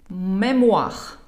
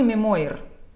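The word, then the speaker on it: mémoire: Мемуах. Мемуах. Никакой мемуир.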